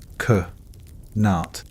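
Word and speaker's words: qanat: Kat pronounced k nat.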